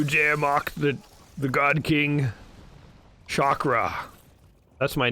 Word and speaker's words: Shockra: You dare mock the God King Shockra. That's my name. The God King Shockra. And it's spelled shock and then raw, like R-A.